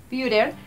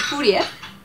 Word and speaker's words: Führer: Bruno no sabía pronunciar exactamente Führer, que es como le dicen a Hitler, entonces él le decía el Furias.